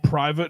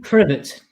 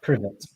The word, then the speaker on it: Privet: Who lives at number 4 Private Drive?